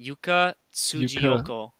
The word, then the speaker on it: Yuka Tsujiyoko: Her name, you would pronounce it Yuka Tsujiyoko.